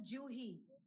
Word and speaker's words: Juhi: My name pronounced as Juhi. Juhi. Juhi, it is J. Juhi. Juhi. J for Japan.